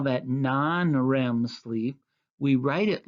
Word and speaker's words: NREM: sleepwalking we call that non REM sleep we write it like you can see here on this slide capital n capital R capital e capital M but it's pronounced non REM sleep okay go to the